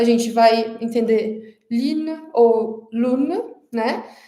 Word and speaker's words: lune: A gente precisa treinar muito o biquinho para conseguir pronunciar lune ao invés de pronunciar lune, por exemplo, né?